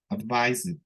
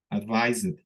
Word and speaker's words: advised: aconsejar advice y acá advised advised también la e como que suena un poquito no pero así rapidísimo y la última que